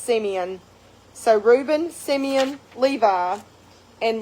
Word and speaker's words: Simeon: So Jacob, with Leah, had Reuben, and I said Simon, but it actually, I think, is pronounced Simeon.